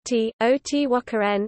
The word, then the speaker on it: Teotihuacan: The name is pronounced T-O-T-W-A-K-A-N in Nahuatl, with the accent on the syllable wa.